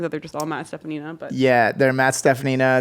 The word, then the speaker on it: Steffanina: Yeah, Steffanina is technically pretty phonetic. Like Yeah. As it sounds as it's spelled, but you'd be surprised.